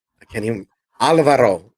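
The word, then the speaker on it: Álvaro Martínez Bueno: I can't even, Alvaro. I can't even roll my R. Alvaro Martinez Bueno on art.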